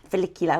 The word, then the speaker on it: follicular: one where you be like felicular felicular.